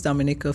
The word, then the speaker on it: Dominica: So much further down southeast than the Dominican Republic, which a lot of people confuse Dominica for.